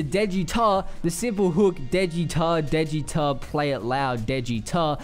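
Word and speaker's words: Daechwita: just what it means at rhymes with dead guitar but um it does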